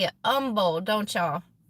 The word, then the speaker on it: Humble: you guys say it Umble don't y'all the H is silent I had to figure that out I still call it humble but I know y'all's